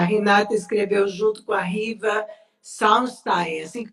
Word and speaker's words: Riva Salstein: A Renata escreveu junto com a Riva Salstein, assim que pronuncia? É, Riva Salsten.